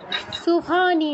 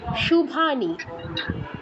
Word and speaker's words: শুভানী: না শক্তিয়া নয় শক্তিয়া তারপর সুভানী নয় শুভানী ঠিক আছে শুভানী হ্যাঁ শুভানী শক্তিয়া না স নয়